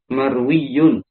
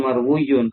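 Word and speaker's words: مَرْوِيٌّ: marwuun maryun marwiun marwiun ujung-ujungnya jadi marwiyun ya Eh bukan marwiun karena yang dihadapi adalah ya ya Sehingga menyesuaikan pelafalan munasabah J pakainya un marwiunb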